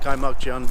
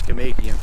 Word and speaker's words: Kaimakjan: It's pronounced Kaimakjan, but American way to say it is Kamakian.